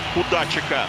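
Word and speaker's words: Kudačík: Бросок и болезненный бросок получился поворотом Кудачика. Говорим Кудачик. Специально уточнили все ударения у коллег из Словакии.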